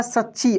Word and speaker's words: सच्ची: देखिए च और च संयुक्त है, तो च पे जोर लगेगा, सच्ची।